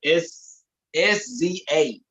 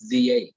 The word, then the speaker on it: SZA: feel my name is sza I remember hearing that yeah it's pronounced scissor that's a nice is